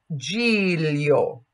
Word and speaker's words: Giglio: And that is pronounced like Lio, Lio. So Giglio.